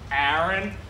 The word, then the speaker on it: Aaron: It's pronounced Aaron.